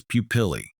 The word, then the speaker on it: pupillae: The plural form of pupil is pupillae. Let's practice saying it together. Pupillae. Emphasize the bolded syllable, pill.